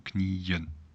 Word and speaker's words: knieën: All right, so remember double dot, or if there are two E's here, IE, IE, or IEN, so knieën.